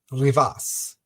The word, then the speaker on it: Rivas: It's like a Anglo thing to say Rivas, like re e v i s, right?